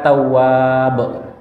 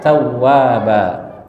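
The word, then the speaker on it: تَوَّابًا: Ini kalau dibaca jangan dibaca banyak orang yang ketika imam dia baca innahu kana tawwab, ya. Tapi dibaca panjang, ya, innahu kana tawwaba. Ya, banyak orang dari sisi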